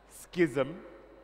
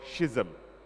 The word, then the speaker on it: schism: can do it your wood has two pronunciations schism or schism they're both spelled the same way Please spell the word